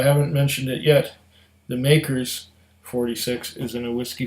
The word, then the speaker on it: Maker's: Not Elijah Craig. This is Makers. Makers. Rhymes with bakers, but I don't have any bakers today.